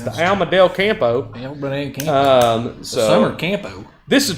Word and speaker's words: campo: the alma del campo you pronounced that wrong comic book compo yes it's like casa de campo that we used to go to in the dominican republic so yes i but